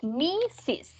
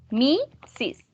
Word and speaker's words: Mrs.: The correct pronunciation is Mrs. Mrs.